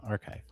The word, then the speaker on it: arXiv: Archive. That's it. All right. Oh, because the X represents Kai.